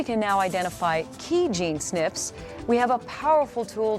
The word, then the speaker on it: SNP: When a gene variation affects only one genetic letter in its code, it is called a single nucleotide polymorphism, or SNP, which we pronounce SNP.